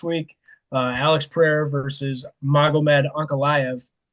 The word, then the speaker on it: Ankalaev: Alex Pereira versus Magomed Ankalaev. Tyler, that pronunciation was spot on, in case you're wondering. That was dead nuts, brother. That's one of the ones that you see enough that you can pronounce it.